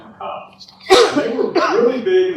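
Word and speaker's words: Muggah: And when you read the book, it looks like their name is Mugga, because it's spelled M-U-G-G-A-H, but I understand it's pronounced McCock.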